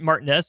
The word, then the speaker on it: Martinez: The young man does pronounce it Martinez.